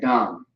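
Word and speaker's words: דם: All right, dum, D-A-M, dum.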